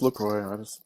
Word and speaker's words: LaCroix: Yeah, but I think you're supposed to pronounce the X. I think. Are you? Because I thought I looked it up a while back and it said LaCroix. No, it's LaCroix.